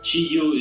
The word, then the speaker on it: Qi Yu: Chiyu is the Chinese pronunciation. The Hmong pronunciation really means Ziya.